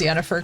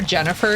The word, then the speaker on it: Yennefer: me sad is that a lot of Europeans call her Jennifer instead because of the pronunciation of the Y and I'm like no it's Yen I'm like it can only be Yen like don't call me